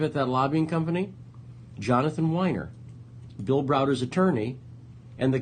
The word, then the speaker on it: Winer: go look up Jonathan Winer which is spelled like the drink WI n EE are not WEEI no no wine with an R at the end look up Jonathan Winer Devin